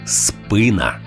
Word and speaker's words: спина: римується проте наголошується неправильно всі словники єдині в думці що українською правильно казати спина поширена помилка трапляється і